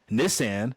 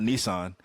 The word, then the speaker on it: Nissan: gets the opportunity from Nissan. It's pronounced Nissan, which I learned in the movie, not Nissan.